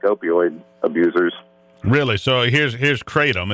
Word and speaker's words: kratom: Well, it's pronounced kratom, Steve, and it's new here in the United States, but it's been used extensively in Southeast Asia for the last 200 years.